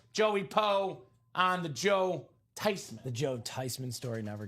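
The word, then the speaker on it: Theismann: The proper pronunciation is actually not Joe Thesman, not Joe Thyman. It's actually Joe Tyman.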